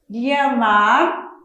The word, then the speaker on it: llamar: Llamar, com o som de LH, ou llamar, com som de CH.